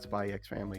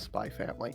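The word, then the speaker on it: Spy×Family: Because I know Hannah Hana just like just like with Spy Family, it's not Spyex Family. It's Spy Family. I don't care. I don't care if people pronounce it the X cuz the X is there.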